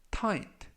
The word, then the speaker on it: tight: 뜻이 되겠습니다 이번 표현은 타이트 터 & 타 인 트 라고 발음 하시면 되겠구요 이 때 유의하실 점은 중간부분에 있는 쥐 h 가 이번 단어에서 모금 이라서 발음이 되지 않습니다 품사는 형용사 뜻은 신발이